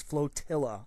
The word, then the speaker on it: Flotilla: space in quote-unquote flotilla the name of the game is constantly mispronounced it is flotilla i apologize to the